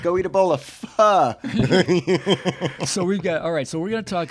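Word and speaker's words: phở: Are you sure it's not faux? Pho. Well, some people pronounce it pho. Americans. Friend or foe? Americans. Yeah, exactly. It's pho, right? Pho. Or It's you tell it. Your ex-wife. My ex-wife is Vietnamese, and she would say pho, which had a little thing, a little accent on the end.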